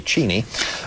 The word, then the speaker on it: Cheney: cheni is a and I like to pronounce his name correctly cheni uh dick cheni is